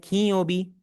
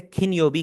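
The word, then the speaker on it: 金曜日: दोबारा क्लियर कर लूँ, बहुत लोग गलती करते हैं, इसे खिनयोबी खिनयोबी पढ़ रहे होते हैं। अगर आप जापानीज नेटिव्स को प्रोनाउंस करता सुने आप, वो इसे प्रोनाउंस करेंगे खीयोबी। इसका जो बीच वाला न है वो इसे नून बोलने की आवाज देंगे, नॉट the hard N sound.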